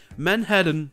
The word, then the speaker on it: Manhattan: Et ce musée se trouve à Manhattan, ou comme c'est prononcé en anglais, Manhattan, qui n'est donc pas à côté de l'école de Peter, qui est dans le Queens.